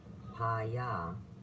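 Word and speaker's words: pane: constantly for cigarettes, caramels, chocolate, pana, pronounced pa-ya, means bread, and marjare literally means to eat.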